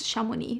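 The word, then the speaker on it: Chamonix: are the best and it is shamoni which is a ski resort in uh the French part of the Ops and this one is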